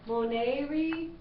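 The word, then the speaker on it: monēre: Oh, moneri, moneri. Okay, so, you know, E says long A, like in they, and short E says like in pet.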